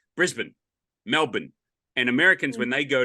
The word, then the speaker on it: Melbourne: you know they say Melbourne you know instead of just saying Melbourne and it's m lbn Melbourne you know that's that's the way we say it right Brisbane yeah